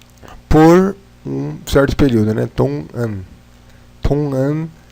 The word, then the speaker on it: 동안: Com A, ficaria Dongan. Mas não tão forte. Dongan, como se tivesse meio fanho, enfim. Também Dongan, ou se pode pronunciar Tongan.